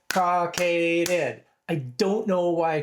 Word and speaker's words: cockaded: Three syllables. Caucaded.